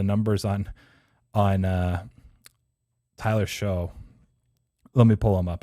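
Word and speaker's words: Shough: an organ ducks fans that tyler show s-h-o-u-g-h that's why i was trying to confirm with him pronunciation which it sounds like i was right but it's it's a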